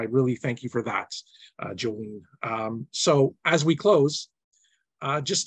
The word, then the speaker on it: Jolene: And so Jolene, Jolene like the song, Dolly Parton song, and, just like it's spelled.